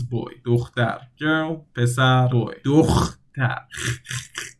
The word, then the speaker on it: دختر: دختر. The hard syllable you can't really pronounce like that. So دختر. It's like you want to do the thing, do the deed. You want to do that.